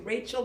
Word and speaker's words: Rachel: Rachel, love that intention.